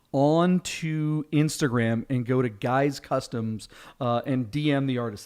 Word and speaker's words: GYX Customs: that doesn't help it's gyx underscore customs uh guys customs that's how you pronounce it guys customs uh on instagram go ahead and dm the